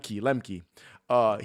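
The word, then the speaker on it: Lemche: And it's the actor from Ginger Snaps and from My Little Lie, Chris Lemch, I think is how you Chris pronounce Lemke, yeah. Lemke.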